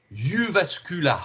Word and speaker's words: Jyväskylä: Entre parenthèses, alors il paraît qu'on dit Jyväskylä. Je ne sais pas si tu as vu cette info aussi. Hein. C'est possible, oui. La prononciation des trémas est un petit peu particulière dans ces langues nordiques.